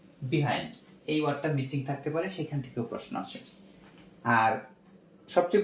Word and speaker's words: Percy: পিতে হচ্ছে পার্সি, এটার উচ্চারণ হবে পার্সি।